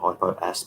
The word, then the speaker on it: Hypoaspis: Hypoapsis is in the soil. I call it hypoaspis because that's how it's spelled.